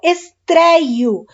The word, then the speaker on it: estreio: Então, estrear, eu estreio. Você fala esse acento, esse ditongo aberto, mas você não coloca o sinal gráfico.